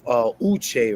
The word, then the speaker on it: Uche: we also have Uche, right, from Dapper Yeah. Cigars. You I got it.